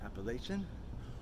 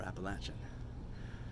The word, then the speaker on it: Appalachian: I have found that depending on the region you're in, it is either pronounced Appalachian or Appalachian. And those who are committed will fight to the death to prove that their way of saying it is the right way.